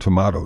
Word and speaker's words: tomato: they're both okay well how about tomato and tomato did they decide that one too um I no I don't think we've ever um we've we've never asked them about that but um you know both are I believe acceptable of variant many words in English